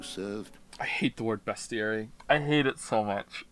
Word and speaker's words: bestiary: Is that not how it's pronounced? No, it's pronounced bestiary.